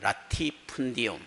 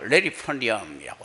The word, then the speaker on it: latifundium: 라티푼디움. 그게 이제 영어로 하면 레리펀디움이라고 하죠. 또 근데 발음은 똑같이 씁니다.